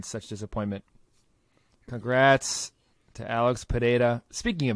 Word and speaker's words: Pereira: Anik be like, hey, guys that keep saying Pereira 100 times, his name is Pereira. Just say Pereira. Like, why doesn't he tell them? Why does he just let them keep saying it wrong?